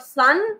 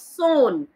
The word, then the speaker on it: Son: Please see the pronunciation of this word Son. It's not Sun, it's Son.